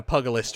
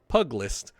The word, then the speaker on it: pugilist: Only through such fierce combinations can a pugilist realize its potential. And then he's just being silly. I know how to properly pronounce it, I'm just being rude. Crikey, I'm spent from all this talking. Pugilist. Puglist.